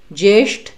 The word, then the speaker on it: ज्येष्ठ: हम बोलते हैं ज्येष्ठ, ज्येष्ठ, तो ज्येष्ठ बोलते वक्त भी श को थोड़ा सा आपको जीभ को मोड़ना पड़ता है, जिससे कि सही उच्चारण निकले, लगे कि हाँ संस्कृत का शब्द है।